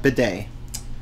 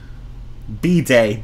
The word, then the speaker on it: bidet: married no okay then oh so i did pronounce correctly today yeah bidet the day the day the day but yeah don't don't drink from those meals are not meant to be drunk from b day bidet b day i should learn ipa me